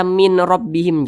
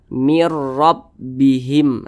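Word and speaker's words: مِنْ رَبِّهِمْ: idgham Bil ghunah dimasukkan Jadi dibacanya itu Mir Jangan dibaca Min rbihim jangan langsung dimasukkan ke huruf Ro Jadi Nun sukunnya ini dimasukkan atau dileburkan ke huruf Ro Jadi dibaca mirbihim seperti itu jadi Tidak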